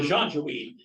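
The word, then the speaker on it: Janjaweed: what's your name Peter the jean-jaweed it's the uh Jim it's spelled in j-a-n-j-e-w-e-e-d from Arabic that translates to Devils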